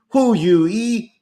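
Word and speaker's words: Hou Yu-ih: I see a line in the comments that they were looking for me to pronounce again the members of the Taiwanese election. That would be Hu Yu-yi, that would be Ko Wen-je, that would be Lai Ching-te, and that would be Tsai Ing-wen.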